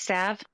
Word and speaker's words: salve: I'm pretty sure it's pronounced Sav.